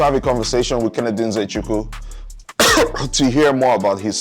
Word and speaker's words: Nzechukwu: Shout out to my boy, Kennedy Nzechukwu. Not Nzechukwu. Kennedy Nzechukwu. That is how you pronounce the name. Trust me, Nigerian here, saying what it is.